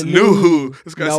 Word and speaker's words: Nouhou: They got Philadelphia's and Baizao and Seattle's No-Ho. That's how you pronounce it. I mean, you're not helping me, dog. You like said it's Nuhu.